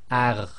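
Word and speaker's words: غ: of the tafkhim letters, and with the sakin, in this case, it's going to be pronounced as ar, ar, ar, and you could think of this as the in the English word agony, with a little bit of tafkhim in there.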